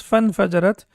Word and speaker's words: فانفجرت: Basically, it's infajarat, but when we have fa or anything before that, then this hamza is not pronounced. So it becomes فانفجرت منه اثنتا عشرة عينا.